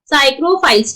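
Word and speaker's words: psychrophiles: क्या बोलते हैं यहाँ पे इनको, पी हमारे यहाँ पे साइलेंट है, दैट इज साइक्रोफाइल्स।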